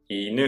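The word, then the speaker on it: 犬: iNU is the same low-high pattern.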